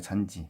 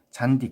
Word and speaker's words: 잔디: 이게 아니잖아요. 잔지, 그렇죠? 잔디 그대로 발음되잖아요. 그러니까 잔디는 하나의 형태소기 때문에 그래요. 아셨죠? 하나의 형태소이므로 국외음화가 일어나지 않는 겁니다.